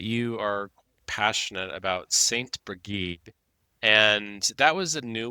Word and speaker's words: Brigid: And I also love that you've called her Saint Brigid because Brigid, as we call her, has very many pronunciations of her name. So Brigida, Brigid.